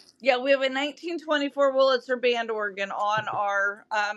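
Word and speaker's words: Wurlitzer: Because you have one of the uh, I'm going to mispronounce it. Woritzer. Is that the Witzer band organs? Yes. I got that right. Yeah, we have a 1924 Willitzer band organ on our uh machine.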